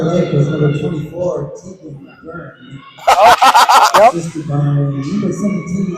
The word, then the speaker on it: Byrne: The E is silent, not accentuated. There's no umlaut in it. Scoring for Prior Lake was number 24, Tegan Byrne.